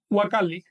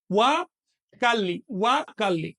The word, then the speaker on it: Huacali: Si va al principio de la expresión, se va a pronunciar como W. Bien, me voy a adelantar. Por ejemplo, Huacali, caja. Así que Huacali, no Huacali, sino Huacali.